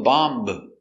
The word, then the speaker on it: bomb: very good example bomb remember no bee no bomb just bomb bomb is countable this